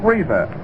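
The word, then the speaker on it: Reiser: full season up Pete Reza that name is re s r Reza in seta DOL Cil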